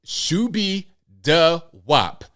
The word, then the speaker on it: Shoobiedawop: Now, John Menadeo is a failed rapper who goes by the name of Shubi Da Wop. I am not making this up. That's spelled SHOOBIEDAWOP.